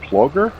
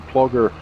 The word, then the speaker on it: Ploeger: I believe it's maybe pronounced Ploger. It's spelled Ploeger.